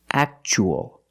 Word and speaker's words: actual: as a second syllable so the t is pronounced CH actual actual means real and you